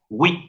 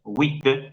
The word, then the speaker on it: huit: Y la palabra wit, en esa primera parte, wit, se escribe con una H invertida, una H minúscula, invertida, cabeza abajo, a eso me refiero, y luego una I latina. A propósito, se usa ese simbolito para recordarnos que en la palabra wit no hay diptongo, sino dos sílabas consecutivas.